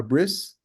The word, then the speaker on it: bris: Brit, so Brit, you may know from the Ashkenazic pronunciation, a bris.